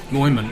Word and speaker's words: Moyman: Well, I had one, it was Dave Moyman. And Mooyman. Moyman, yeah. Yeah, well, I don't know how that is Moy, but Well, that's how he says it.